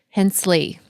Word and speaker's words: Hensley: So it sounds as if it's spelled Hence with the LY on the end.